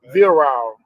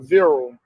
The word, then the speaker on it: virile: Virile or virile, however you want to pronounce it.